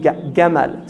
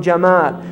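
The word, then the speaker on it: جمل: camel is from Yemen because the Egyptians say gamma they pronounce the gene Gamal so when the the Europeans first heard it they heard Gamel camel right so camel is from Jamal Jamal in the Arabic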